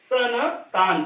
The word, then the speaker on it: संतान: उच्चारण आ रहा है उसके बाद संतान संतान में जो अम की मात्रा है या जो अनुस्वार लगाया गया है उसका उच्चारण यहां पर जो है न होता है संतान सन तान संतान तो यहां पर आधा न का उच्चारण हो रहा है उसके बाद कंबल तो